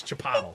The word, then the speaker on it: Chipotle: pronounced and I'll finally be Chipotle. happy. It's Chipotle. Chipotle. It's the Chipotle Bar and Grill. Chip it, Lee.